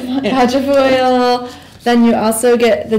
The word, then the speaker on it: quatrefoil: Quatrefoil. Quatrefoil.